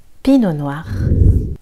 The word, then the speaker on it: Pinot noir: Une fois de plus, le T ici est silencieux. Pinot noir.